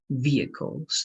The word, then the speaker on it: vehicles: very well thank you just one correction in pronunciation this workplace we're going to repeat and this is going to be like e so it's going to be vehicles vehicles okay Vehicles exactly you're